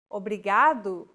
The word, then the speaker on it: obrigado: here in lesson two don't pronounce it like an English R don't roll your tongue listen to how Anna is pronouncing this sound the think of the quick tapping motion your tongue makes as it strikes the top gum Ridge in words like ladder or butter altogether it's a okay